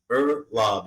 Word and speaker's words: Uhrlaub: back for we'll see but at the moment ER lob is just ER okay okay I didn't want